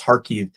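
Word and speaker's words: Kharkiv: in the city of harkive sounds like car key but it's pronounced Harkey to help them get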